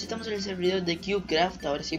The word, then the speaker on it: CubeCraft: Y bueno chicos, estamos en el servidor de CubeCraft. Ahora sí pronuncio bien, que siempre digo CubeCraft.